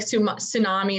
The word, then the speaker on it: tsunami: different font but it's like tsunami the t is silent blah blah and then